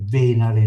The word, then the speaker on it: Venere: Venere la stessa roba. Intanto la e perché si legge venare, no?